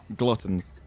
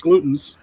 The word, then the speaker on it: gluttons: are glutens for punishment gluttons nope it's glutens that's how you pronounce it it's gluten's representation